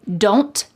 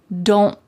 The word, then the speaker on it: don't: more likely to hear don't. Don't. My tongue is at the top of my mouth like it's going to make that T shape, but I just don't let the air come out.